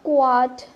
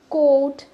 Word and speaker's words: quote: So yeah, so কোট means statement, so ইটস নট কোয়াট, কোট। সো এই ওয়ার্ডটা নিয়ে আমাদের, I mean this word makes a লট of confusions, like আমরা এই কোট নিয়ে, কোট এটা উচ্চারণই করতে পারি না। সো এখানে কিউ ইউ ও টি ই ইজ নট কোয়াট, ইটস কোট, generally it's কোট।